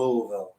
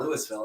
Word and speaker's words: Louisville: I basically moved to Louisville. Like I changed my pronunciation. Like it's not Louisville. It's not Louisville. It's Louisville. Like I literally say it correctly.